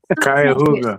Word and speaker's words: Cuyahoga: It's spelled Hanobia. It's Cuyahoga.